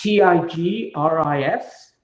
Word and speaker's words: Tigris: Sorry, how did you spell that? T I G R I S Tigris and Euphrates.